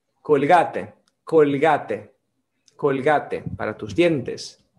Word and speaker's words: Colgate: con gates bill gates en portugués pronunciamos kong h en español es dicha colgate colgate colgate para tus